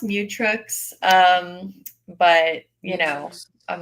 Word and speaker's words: Mutrux: Well, it's pronounced mutx.